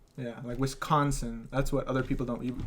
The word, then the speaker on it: Wisconsin: Apparently we really pronounce the con. Yeah, Wisconsin.